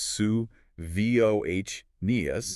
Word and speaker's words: Savonius: We will be looking at things like the Savonius, that is pronounced suh-VOH-nee-us, Mhm.